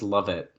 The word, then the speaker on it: Lovett: Lex love it. We say Levette. Love it is how TNA says it. I guess we've been saying it wrong, Bob.